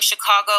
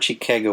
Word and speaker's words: Chicago: And is it Chicago or Chicago? What's the correct pronunciation, actually? So we have a tendency to say Chicago or Chicago. We have a Midwestern long A that we kind of drag out.